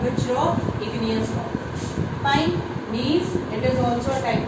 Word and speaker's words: gneiss: The spelling is GNEISS, but the G is silent. It is pronounced as gneiss, and gneiss is made from which rock?